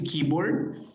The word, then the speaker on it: keyboard: When you say, in this case, keyboard, no se pronuncia la E, nada más se va directamente con la I.